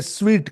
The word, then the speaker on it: suite: ये SUITE जो लिखा है, कुछ लोग इसे सूट कहते हैं, इसे स्वीट कहते हैं। स्वीट यानी मीठा जैसे होता है ना, SWEET, उसका उच्चारण और ये SUITE का उच्चारण सेम है।